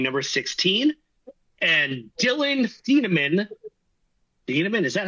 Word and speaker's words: Thieneman: Thieneman, is that how you say it? Yeah. Thieneman, yeah.